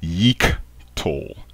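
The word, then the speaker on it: יִקְטֹל: represent the Maser system the hiq vowel Point beneath the letter UD is not a short vowel it is a long vowel this word is pronounced Yik to Yik to that is the correct pronunciation of this word in the Mazer system uh in the you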